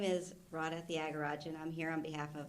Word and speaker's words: Radha Thiagarajan: My name is Radha Thiagarajan.